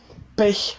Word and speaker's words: Pech: Pech haben et pas pêche. Pech. C'est assez difficile à prononcer au début, mais c'est l'entraînement.